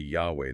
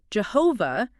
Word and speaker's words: Yahweh: Jehovah is, yes, a very common pronunciation, but historically speaking, it's incorrect. The pronunciation Jehovah, well, it's considered incorrect because it basically arose from mixing the consonants of Lelo with the vowels of a different Hebrew word, odi, which means Lord.